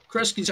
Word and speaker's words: Kresge: Kresge's how you pronounce it, right?